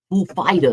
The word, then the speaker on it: Foo Fighters: Yeah, how do you say it? Is the emphasis on the fool or the fighters? fighters? The fighters. Oh.